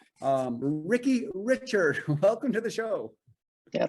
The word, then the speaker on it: Richard: of course you know my last name is richard pronounced richard it's the french version coming from the maritimes like yourself so i